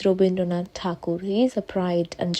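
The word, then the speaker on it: Rabindranath Tagore: to be honest um I know English people could not pronounce his name and decided to call him robind tar but his name is robind donad takur he is a pride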